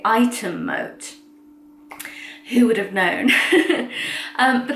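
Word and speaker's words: Ightham Mote: apparently you don't say Ixham Moat, that's how it's spelt, but it's one of those funny English words that's not pronounced at all the way it's spelt. So you actually say Item Moat.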